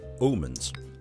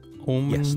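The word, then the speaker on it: Aamanns: This is world famous Omens. Omens. Yes, the double A is pronounced as an O in the Danish language, just so you know.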